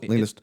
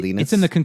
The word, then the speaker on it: Linus: I assume this is Linus Oh, sorry, it's actually Linus Linus's Law.